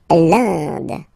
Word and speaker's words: Inde: L'Inde. So remember, you get this nasal here form.